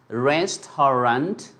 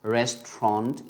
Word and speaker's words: restaurant: We thought it is restaurant, something, 3 syllables, but to be surprised, it's going to be only 2 syllables. So in that case, the native English speakers, they drop few things, let's say like over here. So rest house. So now AU, I mean this syllable is going to be dropped out, so it becomes restaurant. It is going to become only two sounds, restaurant, by the way.